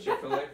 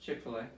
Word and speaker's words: Chick-fil-A: Chick-fil-A. Okay. Oh. So. He did it for your way. She hates the way I pronounce it, because I put emphasis on the first part. I say Chick-fil-A, and she says Chick-fil-A.